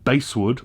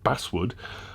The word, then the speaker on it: basswood: what this is made from is an all base wood or i was as i was told recently pronounced basswood wooden body that's a lightweight hardwood uh value